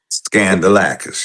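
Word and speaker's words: Skandalakis: Think scandal when you pronounce it. Okay. Scandalis. Scandalacis. Scandalacis.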